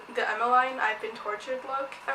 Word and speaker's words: Emmeline: I personally pronounce it Emmeline, but apparently it's Emmeline.